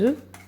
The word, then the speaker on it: œufs: Quand je lui dis des œufs, elle me dit des œufs. Du coup, je lui dis ouais, ça s'écrit avec un F, mais c'est des œufs.